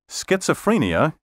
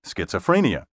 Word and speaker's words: schizophrenia: Schizophrenia is properly pronounced schizophrenia, not schizophrenia.